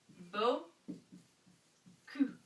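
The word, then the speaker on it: beaucoup: little bitty sound so this is pronounced Bo C and this is when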